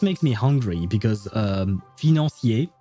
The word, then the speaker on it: financier: I mean when I hear dark financeier as she says it, it just makes me hungry because um fosier that's how we we pronounce it in French.